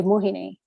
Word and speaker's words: Mohini: And I remember making a very conscious decision when I started at CBBC that I was going to pronounce my name on national TV properly and say Mohini.